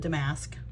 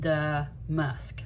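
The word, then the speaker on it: damask: called the musk and I've always called it dam mask. I looked it up three different platforms and it is pronounced the musk.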